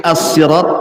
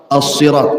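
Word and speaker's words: صراط: pertama Hidayah ihdina asirat ada yang membacanya dengan Sin asirat ada yang mengatakan Shad asirat asalnya Sin Sirat kemudian orang Arab susah menyebutnya akhirnya jadi Shad asalnya Sirat jadi Sirat gitu Shad Do gimana itu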